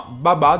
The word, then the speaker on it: Baba: abbiamo un UB babà No non è vero non è un babà ma babà dovrebbe essere la pronuncia terzino sinistro del Chelsea